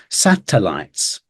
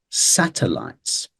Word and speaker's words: satellites: up is this one which again has a schwar instead of this what you'd imagine would be an e sound it's awah satellites satellites satellites and then next